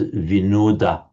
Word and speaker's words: Vinod: the popular Hindu name Vinod Vinod which is just the modern Hindi and generally northern Indian way of pronouncing modern Sanskrit is vinoda.